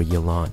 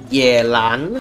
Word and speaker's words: Yelan: Number 4, Yelan. Not Yelan. Who? No one pronounces Kendake. Yelan, okay? Stop pronouncing her name as if she was related to Kanye West. Number 3. Okay, if it's Chinese, it's Yelan.